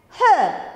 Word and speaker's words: her: Here, the last letter R is not pronounced. Okay, we don't give any stress. Here we give her. Not give stress to R, the letter R.